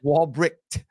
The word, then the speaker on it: Walbrecht: you got to hit that T at the end. Walbrecht.